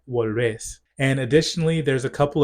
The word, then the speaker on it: volvés: Relatedly, for verbs that have a vowel changing stem, you'll notice that they don't have that vowel change because the stress no longer falls on that syllable. So instead of puedes, you have podés. Instead of tienes, you have tenés. Instead of vuelves, you have volvés.